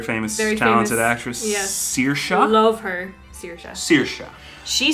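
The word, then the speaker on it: Saoirse: much yeah very famous very talented actress yes searsha i love her sirisha she says it's uh cersei that just depends on like regions i would say searsha but she says cersei when i first read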